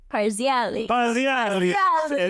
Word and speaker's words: Parziale: Parziale.